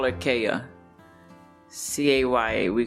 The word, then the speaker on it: Kaya: memories of shakia i have we call her kaya c-a-y-a we call it kaya so for people that can't pronounce her name because it's a silent t